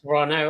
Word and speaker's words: Toronto: It's Toronto. Toronto. I was told that when I went there. They're like, "No, you don't pronounce the T."